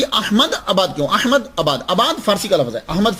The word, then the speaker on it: अहमदाबाद: अहमदाबादी का मतलब क्या होता है कि अहमदाबाद में रहने वाला। तो असल तो प्रोनाउंसिएशन होता है अहमद आबाद। लेकिन कसरते इस्तेमाल की वजह से हम अहमदाबाद अहमदाबाद बोलते हैं।